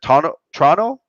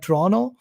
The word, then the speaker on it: Toronto: i don't know they the second t is just silent and the real way to pronounce it is like toronto so they don't that